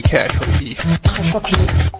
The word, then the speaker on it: Khashoggi: How do you even say Khashoggi? Khashoggi. We have the official pronunciation. We've been trying to figure this out. We have the official pronunciation. Yes, we do. The official way to pronounce it. Jamal Khashoggi.